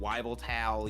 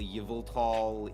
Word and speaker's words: Yveltal: Wyvelta is how I pronounce it. Yeah. Yeah, I know people who say it Wyveltal, Yveltal, Yaveltal.